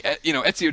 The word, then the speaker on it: Ezio: Ezio just. Or am I saying it wrong? Yeah, Ezio.